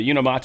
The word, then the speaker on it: Unimate: The Unimate. I actually found out that is how you pronounce it. It is unimate.